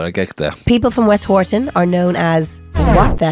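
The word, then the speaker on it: Westhoughton: West Horton. West Horton. I would have said Houghton. There's no or in there.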